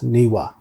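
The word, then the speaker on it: Newe: to us and the shoshone people were always niwa that's how it's pronounced beautiful people there's a picture that top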